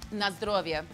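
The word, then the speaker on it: na zdrowie: Na zdrovje.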